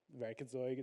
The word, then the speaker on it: Werkzeug: Werkzeug, that's the way you pronounce it.